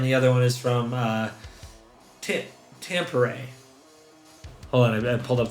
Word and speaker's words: Tampere: One is from Wembley, and the other one is from Tampere. Hold on, I pulled up the pronunciation.